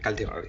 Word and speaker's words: Caldiroli: Am I pronouncing that right? Caldiroli, yeah.